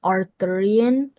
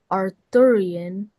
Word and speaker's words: Arthurian: So, this has a couple pronunciations. Arthurian. Arthurian. Arththeran.